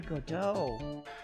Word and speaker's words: Godot: Prosecutor Godot.